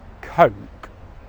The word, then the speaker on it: coke: And the correct sound which is /əʊ/. /əʊ/ Now what you might notice is my lips are moving throughout this sound; /əʊ/ 'coke.' That's because this sound is a diphthong in English It's made of two English vowel sounds /ə/ which is the schwa ,the most common vowel sound in English, and /ʊ/ in 'put.'